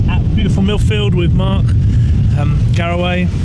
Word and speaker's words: Garaway: I'm here at beautiful Millfield with Mark Garaway. That's right you say, isn't it? That is. It's very well pronounced.